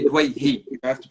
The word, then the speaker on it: Douaihy: So, thank you so much for joining us, Douaihi. That's how you say your last name, correct? It's actually Dwayhi.